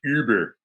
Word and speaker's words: Uber: So at some point, we're all going to realize that really all along we should have been pronouncing it Uber. Uber. Yeah. Uber. Yeah, that's proper.